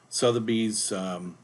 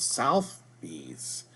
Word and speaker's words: Sotheby's: so today we're using Sotheby's real estate international realty site and I have to apologize I don't know why in the previous video I kept mispronouncing I kept calling it South B's I guess you could